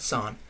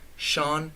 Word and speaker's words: Sean: Belgian League, Sean Johnson, that name always messes me up. Not Son, Sean Johnson. I don't know why Sean is spelled S-E-A-N. It just makes no sense.